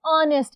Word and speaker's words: honest: एन ऑनेस्ट, इधर H silent है, ओ का साउंड है, इसलिए हमने एन लगाया है.